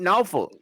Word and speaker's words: Norfolk: He said Norfolk because that's how you say it.